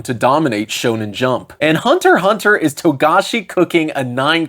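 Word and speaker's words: Hunter × Hunter: A little note on the title, it is written as Hunter X Hunter, but the X is silent, so it's just pronounced Hunter Hunter.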